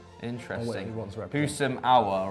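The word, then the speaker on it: Houssem Aouar: Husam Aouar, right? Yes, that's how you, because I'm not very good with that pronunciation.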